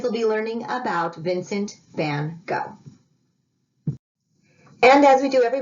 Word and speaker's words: van Gogh: The kids will be learning about Vincent van Gogh.